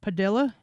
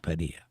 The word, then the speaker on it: Padilla: Padilla. It has an I in it. So I mean and two L's. Padilla. Yeah. In Spanish. The two L's is pronounced like a Y.